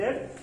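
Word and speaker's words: read: एक ही होता है, प्रोनाउंसिएशन मतलब होता है रीड, रेड, रीड। तो आई हैव रेड।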